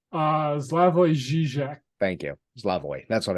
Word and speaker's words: Slavoj Žižek: People like Zizek, how do you pronounce the man's name? Slavoj Žižek.